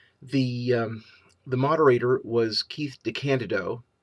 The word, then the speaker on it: DeCandido: the moderator was Keith DeCandido that's how it's pronounced the Candido and I I don't